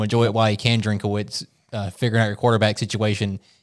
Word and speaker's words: Drinkwitz: You've got two guys in Sam Horn and Bo Prabula, which both of those guys, Coach, I cannot pronounce his last name. Drinkwitz, there you go.